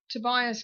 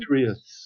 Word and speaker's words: Tiberius: And Tobias Kirk, is that right? Did I say it right this time? Tiberius.